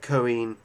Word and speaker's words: Cohen: do I think uh Cohen is how you say it Cohen Cohen I think